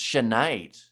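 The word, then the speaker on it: Sinéad: It's pronounced Sinead.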